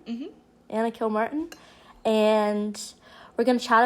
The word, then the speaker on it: Kilmartin: Kilmartin? Mm-hmm. Anna Kilmartin.